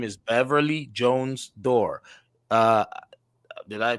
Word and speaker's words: Durr: she has authored her name is beverly jones door uh did i pronounce the last one you sure did you